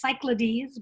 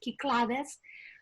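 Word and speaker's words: Κυκλάδες: choice the ki clades this what we would pronounce cyclades but it's kiklades has a it's a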